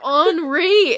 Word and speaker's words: ornery: do you say it I say ornery that's like what was the same thing no you said onry and oh my God